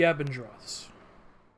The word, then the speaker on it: Abendroths: You see the familiar manor of the Abendroths. I'm pronouncing that correctly, right? Yes. Okay. You are.